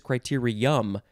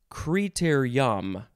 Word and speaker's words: criterium: o n this is criterium um and you can also pronounce it criter yam what so you can say criterium or creator yom noun from 1970 it